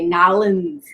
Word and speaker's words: New Orleans: headquarters building in new orleans or as the locals say nollens louisiana so again so great to be here